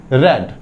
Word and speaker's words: read: Spelling same होती है, रीड ही लिखते हैं बट बोलते क्या है, रेड, सेकंड फॉर्म ऑफ देखो। तो यहाँ पे क्या बोलेंगे, ही रेड, स्पेलिंग क्या होगा, रीड वाला स्पेलिंग ही होगा, READ, रीड। बट इसको क्या यहाँ पे प्रोनाउंसिएट करेंगे आप, ही रेड अ बुक।